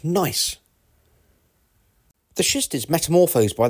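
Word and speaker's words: gneiss: temperatures too this rock is formed pronounced nice the shist is metamorphosed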